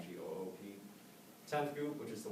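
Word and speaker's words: geup: You start from 10th Goop, which is spelled G-E-U-P, not G-O-O-P.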